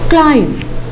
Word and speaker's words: climb: Now see how I pronounce them. Calm, climb. Again, calm, climb. Remember, my dear children, we do not pronounce them as calm, climb.